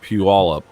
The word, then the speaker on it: Puyallup: It's pronounced Puyallup, but it's funny listening to them make fun of themselves when they're talking about it. Yeah. We're your friendly neighborhood bank. We're right here in Puyallup.